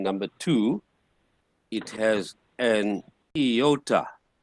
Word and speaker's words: iota: the word is subscript so it's not a Toyota but an iota sub script means sub